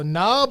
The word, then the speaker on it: Knob: They had the silent K in good day mate land. Yeah. So, Knob Lane. Oh, well, I mean, it's not Canob Lane, right?